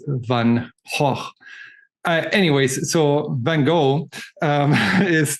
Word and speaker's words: Van Gogh: In German you would say Van Gogh, but you're still pronouncing the G. So in Dutch, you don't pronounce the G. So it's Van Gogh.